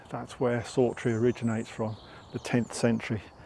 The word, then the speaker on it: Sawtry: sry throughout it didn't actually get called sry um or anything sounding like sry I think it's S A wtr we e sorry in the 1600s prior to that it probably would have been pronounced differently but we will call it sry otherwise it gets uh very confusing so that's where